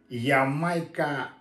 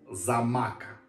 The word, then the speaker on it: Xaymaca: ром Господа ямайский производитель Ямайка но так говорить не надо кка читается как зама посмотрю сейчас под сказочку